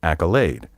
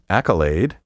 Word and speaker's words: accolade: merit achievement or distinction my preferred pronunciation for this word is accolade but there are no fewer than three other acceptable pronunciations accolade with the stress on the first syllable accolade and echolad word 15.